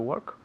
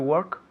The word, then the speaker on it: work: Hay una O ahí, pero se pronuncia como si fuera una E.